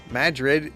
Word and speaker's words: Madrid: little Villages such as Madrid it's spelled like Madrid but they pronounce it Madrid well it's a former mining town you see